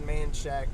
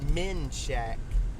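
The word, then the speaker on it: Manchaca: anymore I'm not spelling manshack with a e it's manshack it's not men Shack it's these damn crazy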